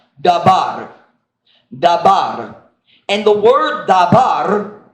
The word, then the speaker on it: dabar: I mean, my pronunciation will be wrong, but it's something like dabar.